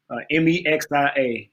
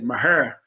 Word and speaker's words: Mexia: So Mexia, Texas, Mexia. You got to be country to say it right. They said Maher in the country.